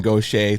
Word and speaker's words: Goché: mary poppins superpowers for good she is gautier thank you so much for coming on